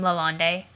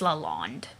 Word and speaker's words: Lalonde: Dear everybody who pronounces their last name Lalonde, it's Lalonde. There would be an accent aigu on top of that E if it were Lalonde. It's just Lalonde.